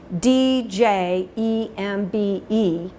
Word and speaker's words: djembe: It's spelled D-J-E-M-B-E, and you would pronounce it djembe, as if it started with the letter J.